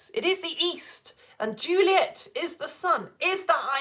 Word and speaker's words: Juliet: So an actor reading this would know, okay, Juliet, I'm going to say that as kind of two syllables, not three.